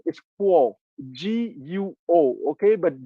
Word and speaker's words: Guo: His family name is Guo, G-U-O. Okay, but G in the Pinyin transliteration system is pronounced like a K in English. Okay, so it's Guo.